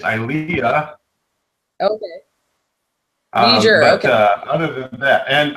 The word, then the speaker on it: Ilia: um you mis pronoun you kept mispronouncing pronouncing things which made me crazy it's IAH okay other than that